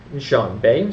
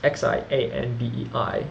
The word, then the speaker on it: Xianbei: Xianbei Tuobo clan, that's Xianbei, and Xiongnu, as we mentioned, is Xiongnu. And I pronounce it Xiongnu and Xianbei. That's my best pronunciation I can do thus far.